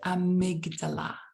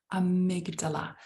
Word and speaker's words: amygdala: on the count of three repeat the word amygdala amygdala so One Two Three Amigos thank you again